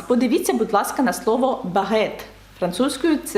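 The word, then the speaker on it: baguette: щоб е не заважало Бо якщо не буде и то ми маємо сказати бажает і це не наше слово це не те що нам треба сказати багет і щоб Ґ звук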